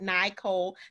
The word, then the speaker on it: Nicol: pronunciate your name correctly because it's nicole that's why there's no e people so just remember